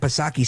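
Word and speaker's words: Psaki: say jen pa circle back pasaki silent p of course she weighed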